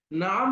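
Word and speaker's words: نعم: করবেন আমার সাথে সাথে নাম মানে হচ্ছে হ্যাঁ নাম মানে কি বলেন নাম মানে হ্যাঁ আর এটা লম্বা করে বলতে হবে মানে হচ্ছে না লা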